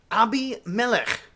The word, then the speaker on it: Abimelech: life comes to be named ABI Melech usually pronounced abimelech in English a name which literally